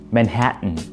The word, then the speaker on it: Manhattan: 정답은 뭐냐면요, 맨해튼, 맨해튼, 맨해튼. 자, 맨하탄 아니고 맨해튼. 자, 포인트는 뭐냐면요, 맨해튼, 이게 포인트인데, 콧소리가 중요해요.